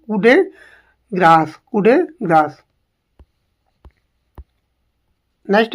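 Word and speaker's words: coup de grâce: अंतिम प्रहार मृत्यु प्रहार उसे कुप डेग्रेस नहीं बोलेंगे इसे क्या बोलेंगे कु ग्रास कुड ग्रास नेक्स्ट है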